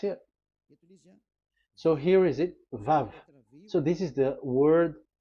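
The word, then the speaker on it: ו: So the word, the shape Vav is really pronounced V, like Vogue. That is it, pronunciation. So here in this side, it's pronunciation. This is pronunciation. So according to the old Hebrew word today, those who, the owner of the word, I mean, so it's a V. So don't change it into W, and you will say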